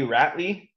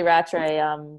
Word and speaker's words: Rattray: we actually have a Jimmy Lee rappy coming up that's right yeah that's my partner okay so I said her name wrong so I make sure I don't do that that's right yeah Jamie Lee Rattray yeah I trained with